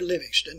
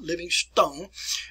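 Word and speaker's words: Livingstone: david linux then that's where it's pronounced there livingston not living stone uh set forth and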